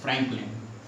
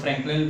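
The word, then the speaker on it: Frenkel: Schottky defect हमने देख लिया, अब हम लोग फ्रैंकलिन डिफेक्ट देखते हैं, ठीक है। चलो फ्रैंकलिन, यहाँ पे आ जाओ, ठीक है, फ्रैंकल डिफेक्ट, फ्रैंकल डिफेक्ट भी बोलते हैं इसे, बहुत लोग फ्रैंकलिन भी बोल देते हैं, ठीक है।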